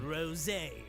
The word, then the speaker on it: Rosé: That's he's actually pronouncing it rosé, like the wine.